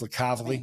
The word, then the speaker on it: LiCavoli: I'm going to introduce you to LiCavoli, and that's how you say his name. It's LiCavoli. That's right. That was not LiCavoli, not anything like that. It's LiCavoli.